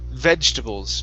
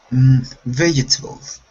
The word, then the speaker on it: vegetables: here this word is vegetables try that vegetables okay so this e here in the middle this is silent we don't we do not pronounce it vegetable vegetables vegetables okay